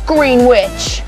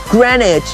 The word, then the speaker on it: Greenwich: home to the famous green witch editor i hope you don't mean the green witch jon it's okay look it's our mission look let's see what it says welcome to greenwich pronounced greenwich and this 24 hours